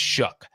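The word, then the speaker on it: Shough: uh some steam and I've always mispronounced his name it's shook Tyler shook shook really I would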